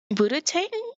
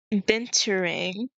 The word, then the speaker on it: binturong: Um, and the one I chose initially was this Buddha-tang, I think it's called Buddha-tang. Hold on, let me go look for it. Let me go spell it real quick. You, you. Okay. Binturong.